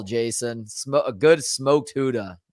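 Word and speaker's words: Gouda: Huda good call Jason SM a good smoked Huda not with but a smoked Huda what do you mean Huda is't that a g in there it is but it's pronounced Huda according to whom according to the Fine people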